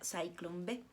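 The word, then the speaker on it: Zyklon: el gas si bueno se escribe ciclón pero se pronuncia saint-cloud había cinco cámaras de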